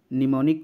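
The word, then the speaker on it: mnemonic: निमाणिक्स code का जो निमोनिक code होता है एम से शुरू होता है एम साइलेंट होता है कोर्ट का प्रयोग किया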